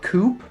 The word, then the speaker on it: coupe: it's called uh a coupe cocktail glass oh yeah yep it's a u character it's not spelled like that uh i know oh is it c-o-u-p yeah then it's a coup oh a coup i'm